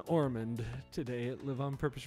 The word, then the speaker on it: Ormond: c v i n orand is just like Osmond only with an r instead of an S so it's o r